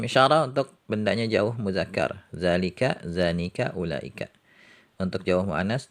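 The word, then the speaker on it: ذلك: Kemudian isim isyarah untuk bendanya jauh muzakkar, zalika, zanika, ulaika. Untuk jauh muannas, tilka, tanika, ulaika. Nah, ini huruf zalnya juga ya, harokatnya pendek, tertulis pendek tapi bacanya panjang.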